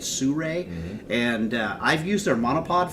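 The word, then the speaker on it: Sirui: excited about sue Rey it looks like it's spelled like suru but if sue Rey and I've used their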